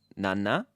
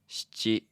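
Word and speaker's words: 七: And then 7 also has 2 different ways of being pronounced. There's nana Na. Na. Na. and shichi. Shi. Chi.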